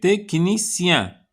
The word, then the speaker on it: technicien: Ce qui كتكتب T ش وكتقرا ك technicien.